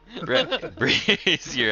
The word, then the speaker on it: brazier: Brazier has a soft Z.